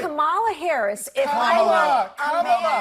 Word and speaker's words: Kamala: Now, this whole thing with Kamala's name was all fake outrage from the beginning.